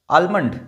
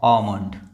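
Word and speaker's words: almond: आलमंड नहीं। ये क्या है? ओमंड।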